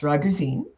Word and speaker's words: Raguzin: And in Croatia, the last name is actually pronounced Raguzin.